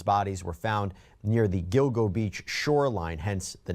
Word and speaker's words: Gilgo: It hits. G at the beginning of the first syllable, G at the beginning of the second syllable. Gilgo.